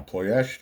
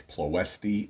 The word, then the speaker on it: Ploiești: Now, Ploiești, often pronounced Ploesti in English speaking countries, is a relatively small city in Romania, the seat of Prahova County, about 56 kilometers north of Bucharest.